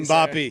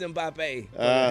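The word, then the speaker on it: Mbappé: Am I pronouncing his name wrong? Yeah, absolutely. Mbappe. Sir. Mbappe. It's Mbappe. It's French.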